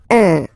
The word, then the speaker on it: un: but you've got to pronounce it like un. So it's what we call the nasal, so it goes in your nose, okay? So if you listen to me, you don't hear any N, okay?